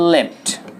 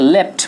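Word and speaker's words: left: যার পাস্ট এবং past participle ফর্মটা সেম থাকে, লেফট। উচ্চারণটা কিন্তু খেয়াল রাখবেন, লেফট বলবেন, লিফট নয়।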